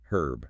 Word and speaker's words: herb: Following our sourc's British guidance, we must pronounce the H. So, herb herb. This is the decisive factor that differentiates British from American English where the H is dropped herb which is